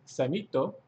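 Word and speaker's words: サミット: For summit, you can say samito. Samito. Which, funny enough, kind of sounds like summit.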